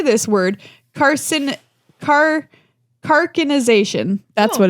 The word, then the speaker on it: carcinization: Carcinization.